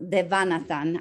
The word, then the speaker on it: Devanathan: That I know, Devanathan. I'm not sure if I'm pronouncing correctly. That's correct. Yeah.